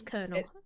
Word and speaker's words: colonel: colonel they got bigger i think it's cool it's kernel it's called colonel one it's c-o-l-o-n yeah i know you don't pronounce it colin although that sounds dodgy